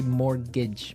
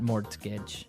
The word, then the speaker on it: mortgage: with a t yeah it has a t in it but you don't pronounce it you say morgage morage so not Mort Mortage not mortgage morgage morgage yeah I